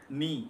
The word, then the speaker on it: knee: It can be from German, it can be from, for example, the word knee, K-N-E-E. So we do not pronounce knee, we do not pronounce it as.